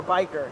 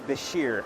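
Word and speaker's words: Bichir: YouTube channel you know is it Basher or biker technically what they say is Basher you know I'm not going to criticize anybody for how you want to pronounce it um there's no real wrong way but yeah Basher I guess is the proper based on like Egyptian or whatever language it was originally heard from how long did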